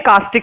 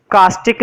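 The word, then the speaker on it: caustic: कॉस्टिक soda, इसको कुछ लोग कास्टिक सोडा बोलते हैं, कास्टिक सोडा, है ना? कास्टिक नहीं पढ़ेंगे वैसे, इसको पढ़ेंगे कॉस्टिक सोडा, ना?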